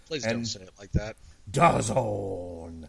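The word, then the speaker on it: DAZN: Lucic versus Tyrone Spong on does own does da zone stop it rhymes with Canada zone really Wow yeah yeah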